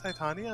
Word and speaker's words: Titania: a bit sore uh titania titania i know there's i think titania is like it's titania queen of the fairies yeah that's the like more like original pronunciation of it i am in your